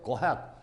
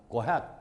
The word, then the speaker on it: ahead: 잠깐 이 부분에 발음 조심해야 돼요. 이걸 발음교로 표시한다면 어가 되겠는데 이 어소리는요 안 들리다시피 후딱 지나갑니다. ahead가 아니고 go ahead, go ahead.